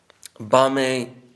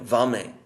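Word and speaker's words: বামে: Bame, and then the V, of course the Sanskrit V becomes always a B, often pronounced. B and V is interchangeable. So Bame, Vame, this word Vama, which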